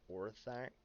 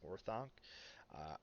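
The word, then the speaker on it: Orthanc: uh tower of or orthack i think it's pronounced or thunk i'm terrible pronunciations but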